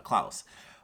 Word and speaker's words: Klaus: it's about Santa Claus the guy's name was actually pronounced as Klaus but it was a